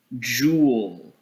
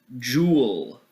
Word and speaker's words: joule: e and that's pronounced pronounced as jewel jewel or if you want